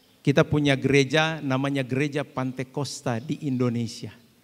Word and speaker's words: Pantekosta: Kita punya gereja namanya Gereja Pantekosta di Indonesia. Kata Pantekosta itu sebenarnya diambil, ya, dirujuk dari kata Pentakosta. Cuman masalah pelafalan saja. Jadi Pantekosta. Tetapi sama artinya.